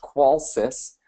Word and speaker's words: Qolsys: quick introduction of who qualus is uh it's pronounced qualis I know we get a lot of interesting